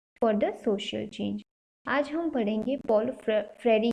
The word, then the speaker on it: Paulo Freire: Short में बोले तो पॉलो फ्रेरी, ओ साइलेंट है।